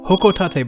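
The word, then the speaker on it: Hocotate: is pronounced as the hoko Tate bom using the Japanese based pronunciation which we can hear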